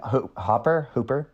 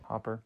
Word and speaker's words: Hopper: And seeing Hooper, how do you say his name? Hopper.